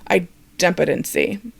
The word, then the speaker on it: idempotency: vocabulary word in automation and that's item potency and i've also heard it pronounced idempotency i'll go with item potency it just flows off the tongue a little better right hopefully you've